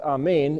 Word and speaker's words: Amen: word A-M-N, which is, if you put an E there, it's Amen, or the Hebrew way of pronouncing it is a little bit more like Amen, and it means, so be it.